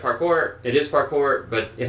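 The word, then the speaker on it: parcours: obstacle course which is parkour Duke um essentially p-a-r-c-o-u-r-s the S is silent um and the the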